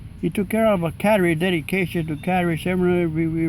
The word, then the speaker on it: Kateri: Now, you pronounce it Cattery, not Kateri. Kateri. No, you over here you pronounce it Kateri. But what do you pronounce it as? Cattery? Cattery. Okay. So that would be... In Canada, how they pronounce it? that would be the Cattery way.